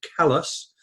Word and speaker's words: Calais: to a place called calais named after calais in france although they pronounce it callus and then the the